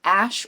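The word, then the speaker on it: Asch: and it was called The Ash or the ask experiment depending on how you want to pronounce it and so in this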